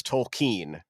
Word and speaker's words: Tolkien: characters correctly no nay will I will I pronounce the name of the author correctly yes it's Tolkien is how it goes so I will do